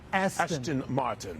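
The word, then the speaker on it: Aston Martin: make sure I say it right Ashton Ashton Ashton Martin yes Ashton Martin I like that and with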